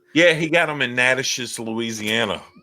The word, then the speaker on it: Natchitoches: Yeah, he got them in Natchitoches, Louisiana. Natchitoches.